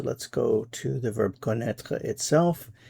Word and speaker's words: connaît: He knows, she knows, one knows, connaît. Same pronunciation, but of course different spelling. c o n n a i accent circonflexe t. Notice the accent circonflexe in this form. Il connaît.